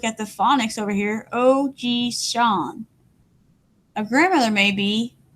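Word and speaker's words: おじいさん: In Japanese, a grandfather may be called Ojishan. You can see I have this phonetic pronouncing. I don't know how to say that word, so I look at the phonics over here. Ojishan.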